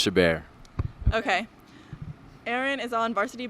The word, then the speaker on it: Chabert: first basketball here with erin chabar it's pronounced chabert okay aaron is on